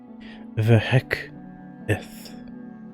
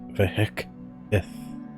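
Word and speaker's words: Vhec'ith: And I realized that I've never Vhek'ith. That is how you pronounce it. Vhek'ith. The little symbol right next to the C indicates that you put a break there. You break off that letter.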